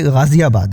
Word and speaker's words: गाज़ियाबाद: गाज़ियाबाद, ये दरअसल ये वर्ड मैंने इसलिए लिया कि इस शहर के नाम का उच्चारण भी लोग बहुत ही गलत करते हैं, तो वो ये गाज़ियाबाद है।